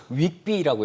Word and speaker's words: WGBI: 네, 이 WGBI 발음이 네. 좀 어려워요. 네. 뭐 채권 시장 하시는 분들은 이거를 윅비라고 읽으시더라고요. 윅비, 네, 이렇게 읽으시더라고요. 네, 그래서 발음이 좀 어려운데 어쨌든 지금 발표가 됐죠.